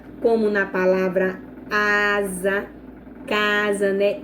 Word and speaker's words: casa: cuidado que quando o S ele aparecer no meio de duas vogais, ele não vai ter som de S, ele vai ter som de Z, como na palavra casa, né? Eu falo casa, eu pronuncio za. Então, o som que sai da minha boca é do Z, sabe?